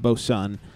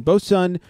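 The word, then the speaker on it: Boatswain: I came across uh it's spelled batain but you say it BOS sun it's B Swain b o a t like a boat s w a i n bow Sun twin screw steamer double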